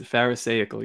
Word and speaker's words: pharisaical: Pharisaical, I bet you that's how it's pronounced, but go ahead. Yeah, and that is pharisaical, yes.